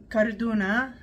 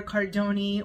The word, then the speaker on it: cardoon: to be prepping something called carduna or cardoni or cardoon different people pronounce it a little bit differently or use similar words